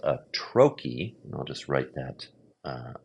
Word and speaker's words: trochee: And it's opposite a foot called a troy. I'll just write that uh I'll write that here. Troy. It looks like troi but it's spelled it's pronounced troy.